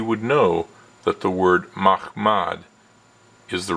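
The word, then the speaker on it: מחמד: He mispronounces Mahmad. The actual Hebrew word in Song of Solomon 5:16 is Mahmad. But once Deedat says Mohammedim, it's easy for him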